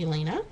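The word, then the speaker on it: Jelena: me j-e-l-e-n-a but i believe it's called the elena it's pronounced sorry elena they do a website or no they're on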